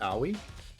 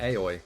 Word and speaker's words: Aoi: are kind of stupid it's pronounced are we oh what did I say I think I've been saying aoi asahina I have no